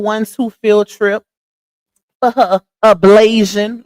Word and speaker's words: ablation: field trip for her ablation, like she say, even though it's ablation, not ablation, baby. There's no Asian in that word, okay? It's Tion, not IAN, okay? It's ablation, not ablation.